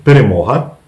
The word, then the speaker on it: перемога: Значит, перемога, это звучит правильно так, русская «г» читается и произносится как «г». Генка, гад, гони ребенку, гниды головы грызут. Так вот, перемога – это победа.